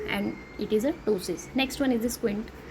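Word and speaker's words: ptosis: is a case of tosis okay p is silent here and it is a tosis next one is the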